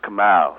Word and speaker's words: Kamau: Well, first of all, it's pronounced Kamau, so you've already been a little bit racist already. So. Kamau.